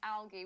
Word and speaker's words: alga: to do that um it is most definitely algae with a soft G as in giraffe or George when it's singular alga or aler algae is the plural of alga then it is a hard G like Ellie says it